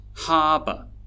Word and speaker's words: harbor: And that's because although they have 2 syllables, one syllable is a stressed syllable and the other one is an unstressed syllable. The unstressed syllables actually have schwa sounds in them.